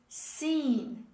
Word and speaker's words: scene: word this is scene don't pronounce the letter c this is seen it's dropped when we